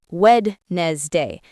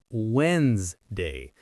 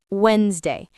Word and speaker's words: Wednesday: Many students say Wednesday, but that is not correct. The correct pronunciation is Wednesday. The letter D is silent. You do not hear it. Let's practice this. Wednesday.